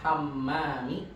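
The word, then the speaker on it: حمّام: Al-ghurfatul lati amamal hamami Hammam ada tasydidnya, diulang hammami. hammami zatu babin tawilin.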